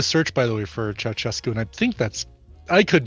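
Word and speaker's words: Ceaușescu: Ceausescu. Is that how you say it? Ceausescu.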